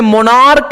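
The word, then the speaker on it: monarch: जैसे मोनार्क है, यहां पे सी एच का उच्चारण चौ नहीं है, क है।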